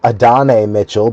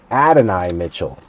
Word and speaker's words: Adonai Mitchell: Just like I always thought it was Adane Mitchell, but it's Adonai Mitchell.